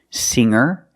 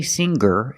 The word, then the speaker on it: singer: like singer and hanger in both of these words the G is not pronounced with a hard G sound we don't say singer and we don't say hanger we say singer and hanger today we're going to